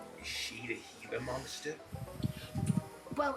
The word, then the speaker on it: Gila: Is she the Heila monster? Well, it's tech it's spelled like Gila. G I L A, but it's pronounced Gila. Oh, like Gilla.